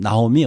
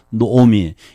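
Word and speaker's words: נעמי: 그의 아내의 이름은 나오미, 원래 히브리어로 하면 노오미입니다. 발음이 정확한 발음이 노오미.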